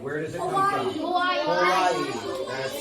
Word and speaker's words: Hawaii: Hawaii is actually locally pronounced Hawaii.